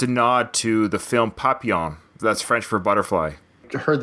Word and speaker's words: Papillon: I always thought it was Papillion, so that was my takeaway from today. I learned how to pronounce that movie correctly. Yeah, it's French. Papillon.